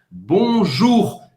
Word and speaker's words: bonjour: Presta atenção, o R você vai pronunciar, é gutural, você vai pronunciar em francês bonjour. Também não precisa exagerar, não precisa ser bonjour, não, tá? Bonjour é como se fosse o R de Roberta, tá?